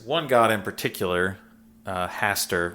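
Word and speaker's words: Hastar: god in particular uh haster which i kind of love because of the lovecraftian hastert not spelled the same but yeah it sounds the same yeah um haster is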